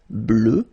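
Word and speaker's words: bleue: at the end okay phonetically it doesn't exist because you don't pronounce it so you get blue as you would get for the masculine form okay but still you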